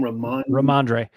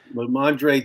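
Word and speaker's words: Rhamondre: Ramondre. Ramondre, to me, will get 25 handoffs tonight for the Patriots.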